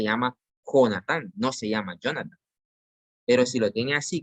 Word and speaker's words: Jonathan: El primero se pronuncia Jonathan y es un equivalente al español. El segundo se pronuncia Jonathan porque lleva una H en medio, es el equivalente al inglés.